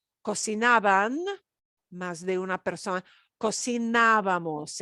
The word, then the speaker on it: cocinábamos: de una persona, cocinábamos, and the ábamos gets an accent mark because we are stressing a syllable that is a kind of a rule breaker syllable. We're not doing the second to last. We're punching the third to the last syllable. So, ábamos.